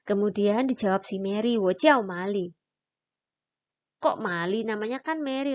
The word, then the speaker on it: 玛丽: Mary itu diganti dengan kata Mali gitu.